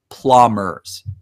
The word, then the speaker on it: Plommers: can say it however, but it's pronounced," and he confirmed to me, Plommers, almost as if it were Plahmers, Plommers.